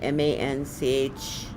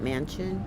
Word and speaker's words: Manchin: M-A-N-C-H-I-N. How do you say that? Manchin?